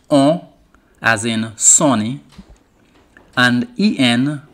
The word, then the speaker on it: en: And EN pronounced en, as in Jenny.